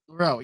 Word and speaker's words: Milrow: How do you even pronounce his name? Milrow? Is that correct? Sorry, I'm looking at my little. Is that correct? Jalen Milrow. Yep. Milrow, yeah.